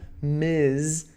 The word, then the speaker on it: Ms: é casada, você usa Ms com MS ponto, tá bom? Lembre-se, pronúncia MS ponto é Ms, com som de Z.